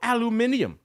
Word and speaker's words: aluminium: That reflects why number one is our old pal aluminium as the Brits say.